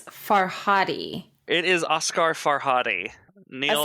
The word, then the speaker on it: Farhadi: I think I'm pronouncing I'm going to say far fi f a r Di faradi and Amanda I believe it's farhadi it is Oscar farhadi